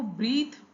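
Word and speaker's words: breath: कई जगह पे आपको ब्रीथ पढ़ने को मिलेगा, इसका जो प्रोनाउंसिएशन होगा कई जगह ये ब्रेथ होगा। क्यों होगा? क्योंकि जो ब्रीथ है वो वर्ब है और जो ब्रेथ है ये नाउन है, ठीक है।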